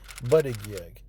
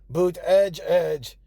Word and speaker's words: Buttigieg: America has had a year to learn how to say Buttigieg, and yet. One exception is President Trump, who has used the name to taunt the mayor at rallies. Boot Ed Jedge. Boot Edge Edge.